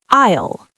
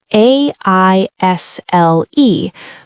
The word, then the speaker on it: aisle: It sounds like aisle. A-I-S-L-E, but we say aisle. The S is silent. I'll. Like, I'll go to the store. Exactly. Same sound.